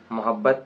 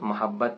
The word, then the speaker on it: محبت: جہاں تک بات ہے، محبت میم کے پیش کے ساتھ زیادہ تر مستعمل ہے، لیکن در حقیقت میم کے زبر کے ساتھ محبت تلفظ زیادہ درست ہے۔ تو چلیے ہم بات